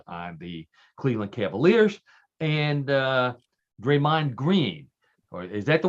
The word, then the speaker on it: Draymond: the top players on the Cleveland Cavaliers, and Draymond Green. Or is that the way you pronounce it? Draymond, right? Yes. Yeah. Draymond.